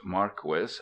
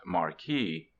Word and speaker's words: Marquis: state by Don Marquis Don Marquis is a real name not a pseudonym it is pronounced Marquis not Marquis I reprint here two